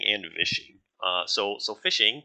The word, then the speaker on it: phishing: fishing uh so so fishing pronounced exactly like fishing right is is when